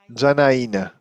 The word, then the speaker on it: Janaina: Janaina. Janaina is the pronunciation.